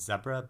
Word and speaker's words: Zebra: So, and then I also read this collection called Zebra by Ian Humphreys, or Zebra, if you want to pronounce it in the American way.